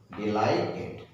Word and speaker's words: delighted: डिलाइटेड मतलब DELIGHTED, DELI, silent, okay, GH का sound नहीं होगा, silent, TED, टेड, डिलाइटेड, डिलाइटेड बोला हुआ, डिलाइटेड।